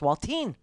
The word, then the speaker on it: Waltine: His name's not Walter, it's Waltine. Rhymes with saltine.